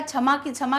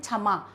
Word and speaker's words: क्षमा: तो ये हो गया क्षमा कैसे बोलेंगे हम उसको छाते की तरह छाता बोलते हैं ना वैसे ही हम इसको क्या पढ़ेंगे छम छम अब क्षमा तो नहीं होता ना क्या होता है सही शब्द का उच्चारण से जो शुरू होगा तो इस प्रकार च